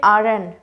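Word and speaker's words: aren't: आर एन, ठीक है, आर एन लगेगा। अब यहाँ पे टी आपका साइलेंट हो जाएगा, ठीक है। इज नॉट में भी टी साइलेंट रहेगा, इजन, इजन कहेंगे, इजंट नहीं, इजन। यहाँ पे आर एन, ठीक है, टी यहाँ पे भी आपका साइलेंट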